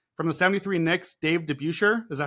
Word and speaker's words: DeBusschere: From the 73 Knicks, Dave DeBusschere.